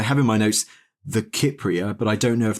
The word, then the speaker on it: Kypria: Sometimes people will have heard of it maybe as the Cypria. Sometimes it's said with a soft C. In Greek, it's from Kupros, Kupria. So it would be with that hard K.